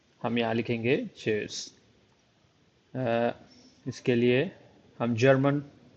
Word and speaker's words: Tschüss: तो इसको प्रोनाउंस करने के लिए आप यह कहेंगे चर्स।